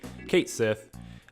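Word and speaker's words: Cait Sith: Nessa is saying, I heard this will be a Vincent, Yuffie, Kate Sith, Sheath. I forget how we were told that is supposed to be pronounced, but Shay, Kate Sith.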